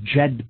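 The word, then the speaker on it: Djed: a pillar in ancient Egypt known as the JED pillar and this is spelled DJ ed Jed it's pronounced ok so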